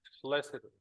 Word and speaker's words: felicitous: The letter C will be sa or ka. When it's followed by I, E, and Y, it should be sa, right?